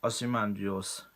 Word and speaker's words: Ozymandias: In Alan Moore's critically acclaimed Watchmen graphic novel, near the end we know everyone is basically surviving, but Ozymandias, as it's pronounced, is declaring that he will wipe out half of the world to save the rest.